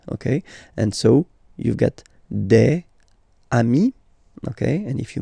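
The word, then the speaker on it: des: and then you just add this S at the end and as we said you don't pronounce it so you get de okay de so un singular and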